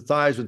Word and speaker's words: Theismann: think by just simply changing the pronunciation of your last name from Theismann to Theismann to rhyme with Heisman, we can give you a shot at that trophy.